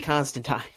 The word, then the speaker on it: Constantine: is a constant team it's supposed to be constant time in like ever since I learned learned that